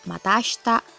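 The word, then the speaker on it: また明日: lagi ya selanjutnya ada mata Asta untuk pengucapannya ASI Tak Disini dibaca ashta Iya itu dihilangkan ya ya di mata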